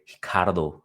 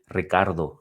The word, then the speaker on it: Ricardo: taking on hikaro hamos you know the Brazilians they don't like to pronounce the the R so we're going to say hiard Ramos but if he was Mexican we'd say Ricardo Ramos in this fight here